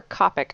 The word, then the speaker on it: Copic: Is it Copic or Copic? I've heard it both ways. I go with Copic because that's just how it naturally comes off my tongue. So Copic it is.